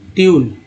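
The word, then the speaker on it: tune: और ट्यून में यू को क्या पढ़ रहे हैं, ई यू, ट्यून।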